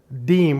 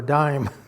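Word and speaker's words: disme: And uh on the back of it, it says United States of America half deem or dism or dime if you want to call it the way it's pronounced.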